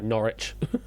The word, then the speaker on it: Norwich: Sorry, Norwich. Norwich. Let's get my American pronunciation going.